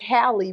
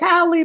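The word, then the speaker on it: Halle: wrong haly Bailey because it's not haly because is it haly it's hi Bailey yeah Hy Bailey uhhuh her son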